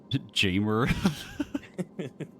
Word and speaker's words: Jamer: Jamer? It's like gamer, like but with the letter J.